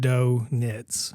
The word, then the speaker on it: Dointz: It's Dointz, pronounced donuts.